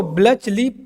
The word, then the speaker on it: Bletchley: Museum का नाम अगर यहाँ पे आप देखने तो ब्लिचली, ठीक है, ब्लिचली, यहाँ पे देख सकते हो आप, BLETCHLEY, ब्लिचली।